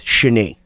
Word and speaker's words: Shani: So it's Shani, even though it's spelled Shani, it's Shani.